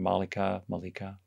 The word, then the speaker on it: Malika: you to unmute and i may have mangled the pronunciation of your name malika you pronounced it correctly okay yeah um i